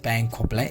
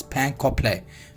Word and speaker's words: pain complet: You can see now here is a bread we have here is pain complet. It's not pain complet, it's pain complet, means whole grain loaf, means brown bread.